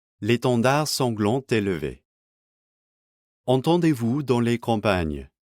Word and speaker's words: sanglant est: Bear in mind that we get liaison between sanglant and est. This liaison wouldn't normally be pronounced in modern spoken French, but is definitely present in the song.